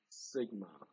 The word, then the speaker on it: sigma: The way to pronounce this is sigma. That's little sigma. Little sigma. Therefore, the symbol for the population standard deviation is little sigma.